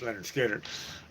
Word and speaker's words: Lynyrd Skynyrd: Anybody can pronounce Leonard Skinner.